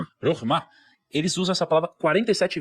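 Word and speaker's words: חכמה: A primeira chama, não sei se eu vou pronunciar corretamente, tá? Chama Chokmah. É Chokmah, Chokmah.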